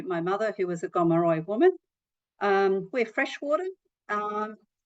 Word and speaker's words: Gomeroi: So I'm from the uh Gomeroy. You may have heard it pronounced also as Camilaroy people um in northwest New South Wales.